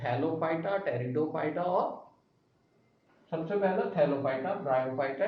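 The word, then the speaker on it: Pteridophyta: Cryptogams, जिसके अंदर हमारे पास तीन आते हैं, थैलोफाइटा, ब्रायोफाइटा और टेरिडोफाइटा। टेरिडोफाइटा का पी साइलेंट रहता है।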